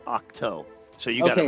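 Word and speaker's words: Ahch-To: Um, by the way, by the way, the the the planet he's hiding out on is actually pronounced Octo.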